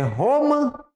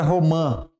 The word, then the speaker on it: romã: Qual que é a sílaba tônica em romã? É roma ou é romã?